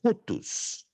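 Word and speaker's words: οὗτος: Então é rutus. Rutus. Procura memorizar essa pronúncia.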